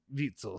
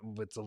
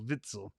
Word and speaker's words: Witsel: uh compensation all right vitsel sorry not whitzel vitzel still gotta use to